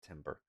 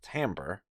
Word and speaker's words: timbre: Well, first I have this timbre knob, and yes, it's pronounced timbre, not timber.